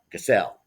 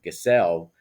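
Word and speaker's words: Gesell: uh lives in uh Villa gazelle uh Accent on the second syllable uh which is a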